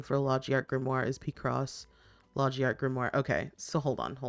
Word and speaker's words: Picross: So like maybe the other person like or the person that made this also doesn't know that it's pronounced Picross and not Pacross.